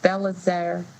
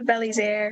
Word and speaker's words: Belizaire: Yeah, I know we're not pronouncing it right, but Ms. Belazar, come on. Go ahead, please. Help us with your name. Please say your name so we all know. Thank you. It's Naika Belizaire.